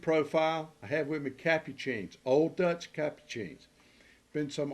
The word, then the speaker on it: Capucine: for today's breed profile I have with me capucines Old Dutch capucines been some argument that the pronunciation is Capuchin or Whatever It Is Well